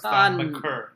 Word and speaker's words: Thon Maker: I think he will should learn finally how to say his name, and it's Thon Maker.